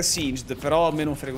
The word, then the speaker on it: Singed: Allora, in teoria la pronuncia ufficiale dovrebbe essere Singed, però a me non frega un cazzo.